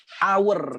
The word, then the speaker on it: hour: Kenapa ya, kan ini konsonan nih ha. Nah, tapi warnanya samain aja kali ya, kan takutnya disangka ini salah. An hour, karena bacanya hour kan gitu ya, hour.